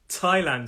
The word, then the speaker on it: Thailand: though and actually bonus bonus word in the country called thailand it's also a th but it is thailand so we have and